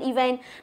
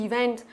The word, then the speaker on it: event: Mình người Việt Nam mình cứ hay đọc là event. Đọc như thế thì thật sự là không biết là trọng âm ở đâu cả. Nhưng mà từ này đọc là event.